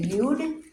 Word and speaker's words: Yod: And then your 10th letter that we're in, final one we're learning today is the Yod. You're also going to hear it, some people say Yud, Yep.